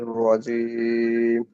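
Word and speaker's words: الرجيم: শাই এতদিনই মিনাশ শাইতানির রাজিম হয়েছেুবিল্লাহি মিনাশ শাইতানির রাজিম জিমটা শক্ত হবে রজিম রজিম ঠিক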